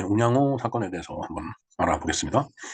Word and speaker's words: 운양호: 바와 같이 이렇게 쓰는데 이것을 일본어로 읽으면은 운요호가 됩니다. 운자는 이제 발음이 똑같은데 우리가 양어로 읽는 걸 사람들은 요라고 읽는 경우가 이제 대부분이죠. 그래서 운양어는 운요호라고 있습니다. 자, 어찌됐든 우리나라에서 일어난 사건이기 때문에 이걸 운양호라고 우리 발음대로 호칭을 하겠습니다.